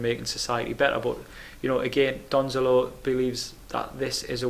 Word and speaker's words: Donzelot: Jacques Donzelot, I love this name. I don't know if that's how you pronounce it right, but I'm going to say that's a silent T at the end.